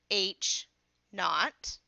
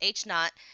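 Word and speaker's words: H₀: not which is na ght but it's really pronounced H knot so the null hypo hypothesis H knot is a h a statement that the value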